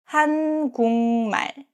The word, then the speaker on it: 한국말: First, 한국말, the Korean language. This 국 ends with 기역 and next syllable starts with 미음. In this case, 국 is pronounced as 궁. So it's 한국말, 한국말.